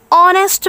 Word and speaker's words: honest: He is an honest man. देखिए class, यहाँ पे honest, हमने honest नहीं बोला, honest बोला, तो इसमें हम h को साइलेंट बोलते टाइम साइलेंट होता है, इसीलिए हमने an लगाया है।